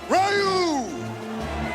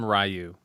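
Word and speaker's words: Ryu: I don't know if anyone here speaks Japanese or is Japanese but there's like a sound we don't really use in English and it's something like that that is the tech right way.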